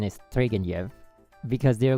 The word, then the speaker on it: Turgenev: And then like someone told me the pronunciation is Turgenev. Because they're like, the NEV is like a Yev.